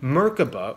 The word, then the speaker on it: Merkaba: being intercepted by our Merkabas, our light body vehicles. So for those who are not aware, the Merkaba, or Merkaba as it's sometimes pronounced, is the light body vehicle of our higher selves.